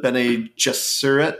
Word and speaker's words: Bene Gesserit: The Bene Gesserit, I think is how it's pronounced, and then I think traitors.